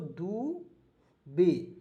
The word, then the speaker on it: Dubey: उसके बाद DUBEY दुबे पढ़ेंगे दोस्तों, दुबे, देखिएगा DUBEY दुबे पढ़ेंगे, ठीक है, क्योंकि वाई इसमें साइलेंट रहता है दोस्तों।